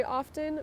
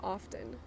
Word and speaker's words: often: ear some people say often but they don't pronounce the T but it it's not silent okay often you are supposed to pronounce the T but a lot of people don't pronounce the T that's just out that's